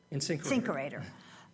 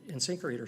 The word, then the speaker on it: InSinkErator: approximate light, medium, heavy duty that you could use for InSinkErator, this product. how do you say it? InSinkErator.